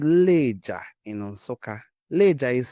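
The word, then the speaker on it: Lejja: This oldest iron smelting site in the world is located in a place called Leger in Onsoka. Leger is spelled L E J A Leah.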